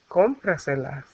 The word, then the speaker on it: cómpraselas: And since it's an affirmative command, we attach cómpraselas. Why we put the tilde on the O? We need to remember that it's going to carry that stress.